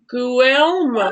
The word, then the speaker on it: Guillermo: It's pretty much it's pronounced Guillermo, but Guillermo. most of my okay. So yeah. I silent the L's. Guillermo. For the most part, yeah, it's pretty much stay silent. Okay.